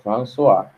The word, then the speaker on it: François: Tem O-I-S, você fala O-A. Tipo, François, se escreve François, mas se pronuncia François.